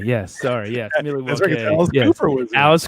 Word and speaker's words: Milwaukee: Another little known fact is it's actually pronounced Milwaukee. Milwaukee, yes. Sorry, yes. Milwaukee.